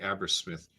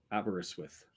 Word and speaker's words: Aberystwyth: So, Sean, it appears we also have to learn how to say Aberystwyth, because he's saying there's four syllables, and we're doing 2 or 3. Aberystwyth.